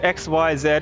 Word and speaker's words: Xyz: victory on your own shiz is pronounced xyz it's the letters xyz well i'm gonna call it shoes because that's more fun